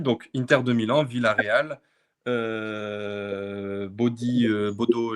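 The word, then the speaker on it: Bodø: Donc, Inter de Milan, Villarreal, Bodo, je sais plus comment on prononce. Bodo Glimt, merci. Beau-deux, ouais, ça dit ouais, effectivement.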